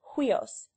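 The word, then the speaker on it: υἱός: Upsilon plus iota, pronounced like the pronoun we, as huios, or hui in white.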